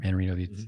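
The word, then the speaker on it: Mannarino: Manarino, the French player.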